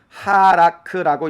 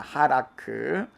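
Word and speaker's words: הלך: 그래서 하라크라는 단어는 3인칭으로서 그가 가다, 그가 걷다, 그가 행하다 라는 의미가 있는데, 어근으로는 해, 라메드, 카프. 그래서 이거를 하라크라고 읽습니다. 하라크.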